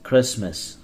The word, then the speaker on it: Christmas: T is silent. Christmas.